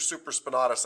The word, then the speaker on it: supraspinatus: you might know this because you touched your supraspinatus i think when i when i said this